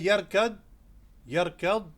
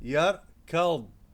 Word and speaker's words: يركض: ضاد is a difficult letter. If you say يركض, people will understand it. However, the correct pronunciation is يركض.